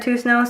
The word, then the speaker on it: Toussaint: It is the story of Fabiola Toussaint, which I may be mispronouncing her last name, but I went to school with a kid who had the same last name and he said Toussaint, so I'm going to say Toussaint.